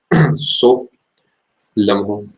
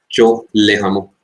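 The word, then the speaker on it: Tso Lhamo: अब इसे सो लम्हो या फिर चो लेहामो कैसे भी प्रोनाउंस कर सकते हैं, ये आपको सिक्किम में देखने को मिलती है।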